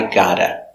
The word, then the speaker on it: gotta: this is correct but in America we don't pronounce the V people say I got to pronounced I gotta not spelled like this spelled like this but pronunciation gotta I got to go